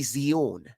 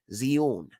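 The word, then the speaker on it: ציון: is ancient Hebrew essentially so it would be zeun zun okay so like uh let me hold on let me show you so if you were to spell it or like write it out in English it would be spelled TS y u n zun zun but I'm gonna type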